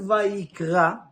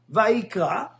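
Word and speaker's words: ויקרא: In the word of Vayikra, the word ends with the letter Aleph. And Aleph, you don't pronounce it.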